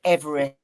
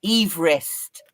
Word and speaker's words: Everest: And as Mark pointed out last week, we're all saying Everest wrong. It's Everest. Because it was named after the guy who. How annoying must that be for the person to know that he made great pains to say his name's George, I think George Everest, and the mountain is named after him, and everyone calls it Everest.